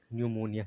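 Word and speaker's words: pneumonia: गया यह होता है न्यू एन ई यू एम ओ एन आई ए निमोनिया निमोनिया का मतलब निमोनिया ही होता है ऐसे जो है पी यहां भी साइलेंट है शुरुआत में है यह हो गया स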